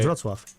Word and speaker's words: Wrocław: Wrocław.